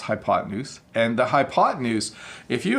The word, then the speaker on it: hypotenuse: Well, it is pronounced hypotenuse, and the hypotenuse, if you have a right triangle, the hypotenuse is the side across from the 90-degree angle.